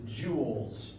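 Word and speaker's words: joule: using for energy is Jewels spells j u l s named after a French physicist pronounced like the gemstone but French depending on what chemistry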